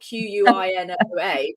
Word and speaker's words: quinoa: this whole conversation about quinoa you know because it's spelled q-u-i-n-o-a it's felt K you pronounce it k-e-e-n-w-a well